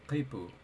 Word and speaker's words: khipu: It's spelled with a Q, so I want to say kaipu, right?